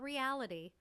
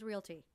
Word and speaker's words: Realty: that's correct v-a-l yes and it's not reality it's not reality it's Realty yeah so don't add